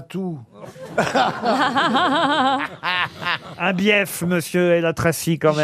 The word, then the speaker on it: bief: Eh, dites donc, il y a 2 syllabes. BF. Ah non, on dit bief.